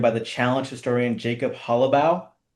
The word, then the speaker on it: Hollabaugh: I'm joined by the challenge historian, Jacob Halabau. Almost nailed it. Jacob Halaboth. Very, very close.